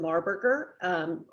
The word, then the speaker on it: Marburger: As Jason said, my name is Marburger. rhymes with Maryland, and Marburger is like hamburger, so it's a tough one to know, but that's how you say it.